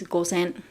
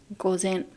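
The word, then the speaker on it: 午前: zero time until the afternoon 12 o'clock so gozen goes in goes in gozen so gozen which means in the morning so until the afternoon 12 p.m before the 12 pm is gosen gozen okay and how about this one just now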